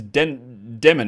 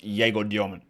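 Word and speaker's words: Egor Demin: His name is Den Deman. It's easy. I'm calling him Jgo Dyman because his name is pronounced Jgo Dyman.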